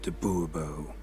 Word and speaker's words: de Bobo: de Bobo fine Monsieur de boobo the emphasis falls on the last syllable see now I'd rather